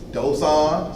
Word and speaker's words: Dosan: That you hear that D sound, it's spelled with a T now. You know that it gets, the T gets that D kind of feel. Like when you say Dangun, it's spelled with a T. Ask these questions. Dosan, spelled with a T, but it gives like a hard D sound.